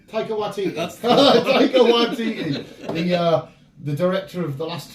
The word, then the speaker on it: Taika Waititi: Taika Waititi? Taika Waititi. That's Taika Waititi.